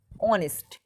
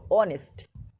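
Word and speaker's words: honest: অনেস্ট, উচ্চারণ এইচ আছে প্রথমে কিন্তু উচ্চারণ করার মতো হচ্ছে ও এর মতো, অনেস্ট, এটা কি বসবে?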